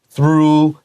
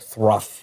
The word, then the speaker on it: through: This is through like moon. You can write the word moon here so you remember how to say this word. Don't say something like thruff or something.